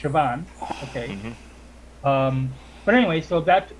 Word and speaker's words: Siobhan: You know, my name is spelled Siobhan, but it's pronounced Siobhan.